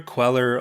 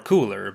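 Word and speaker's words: Kueller: a new identity CER which may be pronounced CER queller or cooler but not like the donut he also began wearing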